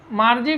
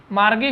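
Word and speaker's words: Margie: देखिए, मार्जी को कहीं कहीं मार्गी भी कहा गया है और कहीं कहीं इसका नाम का उच्चारण मार्जी भी है। तो आप इस पर गौर नहीं करेंगे। यह प्रॉपर नाउन है, इसका कोई विशेष नियम नहीं होता है। आप इसे मार्गी भी पढ़ सकते हैं और आप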